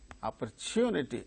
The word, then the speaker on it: opportunity: you for opportunity no because wherever the word opportunity occurs only the third syllable gains a stress now move on to